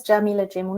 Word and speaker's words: Jameela Jamil: that my name is Jameela Jamil Jah that's how you pronounce my name Mila J MA and